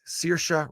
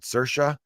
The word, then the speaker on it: Saoirse: Or is it Saoirse? There's 2 different ways to pronounce that name. I'm going to say it the way my cousin's daughter's name is pronounced, and that is Saoirse Ronan, great actress.